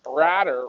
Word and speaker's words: Radder: for you leah did henry radder rhymes with ladder how did he do